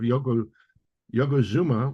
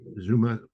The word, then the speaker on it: Yokozuna: my mouth were something along the lines of Yokozuna, which I said Zuma because Mr. Fuji had been calling him, mispronouncing his name.